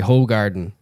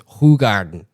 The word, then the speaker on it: Hoegaarden: like, yeah, you know, all these Americans say Hoegaarden, but it's Hoegaarden.